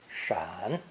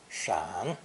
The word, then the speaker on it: 闪: It's pronounced third tone, shan, shan.